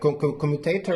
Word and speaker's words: commutator: Like this, like commutator.